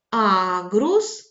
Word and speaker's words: аґрус: поставили на букву а аґрус наголошений звук а у урожай наголошений звук